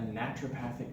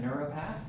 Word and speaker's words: naturopath: Goodwin I am a naturopathic doctor um a lot of people try to pronounce that neuropath which is totally cool but um naturopath slightly different um and naturopaths go